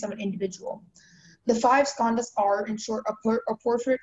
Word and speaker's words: skandhas: The five skandhas are, in short, a portrait of the human self.